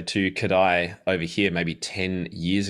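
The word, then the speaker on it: Kodály: I should say, to Kodai over here maybe 10 years ago. And I should say, for those listening, if you're not familiar with Kodai, it's spelled K-O-D-A-L-Y, Kodai, that's the guy's name.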